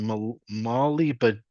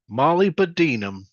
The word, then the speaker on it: molybdenum: The mining of copper, gold, and molybdenum. Molybdenum.